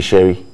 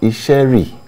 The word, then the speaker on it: Isheri: on divination for example today we have a sherry we have a worry people don't understand what it means ishari is isheri and then our worries are worried but because